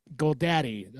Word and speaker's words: Goldade: I have Goldade here, and Goldade. Okay, not Dottie. Goldade, yep. That's a fancy way of pronouncing it.